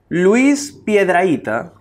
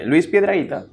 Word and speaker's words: Luis Piedrahita: Luis Piedrahita. ¿Sí? ¿Lo pronuncié bien? Sí. Ok. Luis Piedrahita.